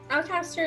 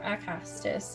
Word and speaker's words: Acastus: So Alcaster is going to, or Acastus, I keep saying his name wrong, and he's my character.